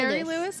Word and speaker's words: Shari Lewis: It's Sherry Sherry Lewis.